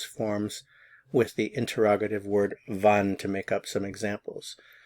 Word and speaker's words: wann: when in German is Van van notice the pronunciation of the W van van van when